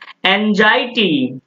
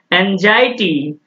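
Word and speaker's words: anxiety: तो नेक्स्ट देखो है अब इसका उच्चारण क्या है जल्दी बताओ ना और क्या करोगे इसको इलेक्ट्रिसिटी पर होंगे क्या इलेक्ट्रिसिटी करोगे दोस्त इसको इलेक्ट्रिसिटी बिल्कुल मत पड़ना यह जो है ना यह सब आप समझ लो इसको इस तरह से उच्चारण करोगे एनजाइटी क्या करोगे एंजायटी और यह नान है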